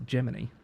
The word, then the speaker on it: Gemini: It's pronounced Gemini, like the Pinocchio story.